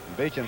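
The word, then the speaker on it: Beauchamp: Beecham first joined the Mets. I asked him about that pronunciation. B-E-A-U-C-H-A-M-P. He said, I'm a French Okie.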